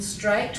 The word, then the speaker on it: straight: at we've got the gh in straight which we can't make that gustal sound so we leave it out and but when we